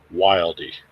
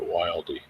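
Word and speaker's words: Wilde: that is made by wildy it's Well w i lde i pronounce that wildy uh some people just call it wild but whatever USA made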